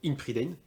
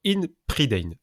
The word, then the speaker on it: Ynn Pryddein: sur Game on Tabletop, In Predain. Alors, première question, est-ce que je prononce bien? Oui. Bon, Enfin, tu le prononces à la française.